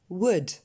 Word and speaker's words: would: Would.